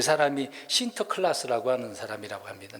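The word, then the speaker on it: Sinterklaas: 이름이 있는데 그 사람이 신터 클라스라고 하는 사람이라고 합니다 네덜란드 발음으로 그래요 뭐 센터 신트 그렇게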